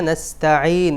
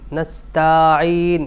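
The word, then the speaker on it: نستعين: নাবুদু নাবুদু ওয়া ইয়াকা নাসতাাইন এখানে যে মারাত্মক ভুলটা হয়েছে সেটা হলো নাস্তাইন তা লম্বা হয়ে গেছে তার মধ্যে কোন মাদ নাই নাসতাাইন নাসতান এরকম হবে নাস্তাইন ইয়াকা নাবুদুও ইয়াকা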